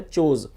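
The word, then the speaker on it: chose: Form है वो है चोज़। तो आप इसको नोट कर सकते हैं। और जो इसकी प्रोनाउंसिएशन है उसे भी आपको अच्छे से समझना है। इसको चोज़ पढ़ा जाता है।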